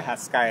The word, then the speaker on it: Hashsky: Haskai, oh bacanya Haskai.